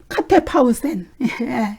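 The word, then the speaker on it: κατέπαυσεν: 여기 쉬느니라 예 쉬는이라 이거를 이제 헬라어로 보면은 카테파우센 이렇게 발음합니다.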